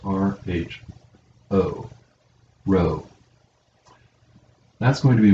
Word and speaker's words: rho: lowercase is this the uppercase is this it's pronounced r h o rho that's going to be one of our